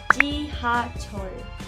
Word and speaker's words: 지하철: Para la primera sílaba tenemos G, que sería como una J inglesa, o también puede ser como una Y en Latinoamérica, pero un poquito más suave, como G, ¿me entiendes? Y-I, G.